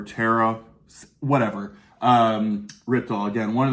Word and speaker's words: Terje: I know it looks like Terge or Terje. I think pronounced more Terry or Tara, whatever.